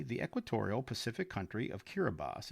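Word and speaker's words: Kiribati: Even more oddly, the equatorial Pacific country of Kiraabas, it's spelled like Kiraabati, but it is pronounced Kiraabas, because its islands are spread over such a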